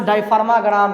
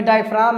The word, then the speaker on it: diaphragm: इसको हम लोग प्यार से डायफग्राम कहते हैं। लेकिन भाई डायफ्राम है। प्रोनाउंसिएशन इसका डायफ्राम में होता है।